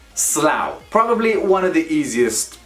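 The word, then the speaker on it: Slough: slow it's a slow it's a place called slow do not be confused with a sloth either way it is pronounced slow probably one of the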